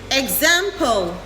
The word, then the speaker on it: example: Remember to use the i sound at the beginning of these words.